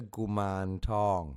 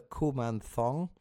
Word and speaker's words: Kuman Thong: found is of course the gum tong. Not the kuman thong. It's not a k.